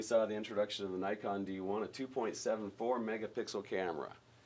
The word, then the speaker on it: Nikon: If you're in the United States, you pronounce it as Nikon. Pretty much everywhere else in the world, it's Nikon.